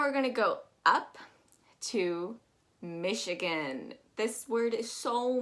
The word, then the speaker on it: Michigan: so mispronounced but um we're actually going to be pronouncing that ch as an sh i also want to make sure that you know that that again is actually that gan is actually more of an i sound michigan going down we have